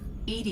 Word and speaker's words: EDI: is a jar why are you named Ed Ed is the phonetic pronunciation of Eed that is an acronym for